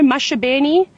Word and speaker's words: Maxi: that everybody might know mashabi or uh it's spelled Maxi if you if you've just maybe seen the spelling um so he's our